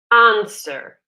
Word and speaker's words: answer: answer note the pronunciation answer okay the W is silent okay why don't we